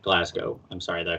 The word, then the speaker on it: Glasgow: But all right, I didn't say what's the pronunciation? Glasgow. I thought it was Glasgow too. But I don't want to say All right. anything. Like no A at all, just O. No, Glasgow.